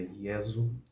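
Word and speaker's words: Iesu: som do I assim o nome de Jesus é yesu yesu yesu o PH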